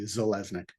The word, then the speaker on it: Zeleznick: My name is Zeleznick, and that's underneath, that's how you say it properly, Zeleznick.